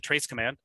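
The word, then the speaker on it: trace-cmd: So the main thing is tracecmd, or I pronounce it trace command.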